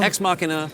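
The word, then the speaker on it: Ex Machina: exina minina exmachina minina so remember that it is Latin so no one really knows how to pronounce it okay and you don't even have to have an accent cuz we don't know what the accent is either but exmachina is what's accepted by you know the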